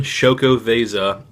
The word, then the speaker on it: Xocoveza: Stout so what we have here is Stone shoko Vasa mocha Stout collaboration between insurgente Chris Banker I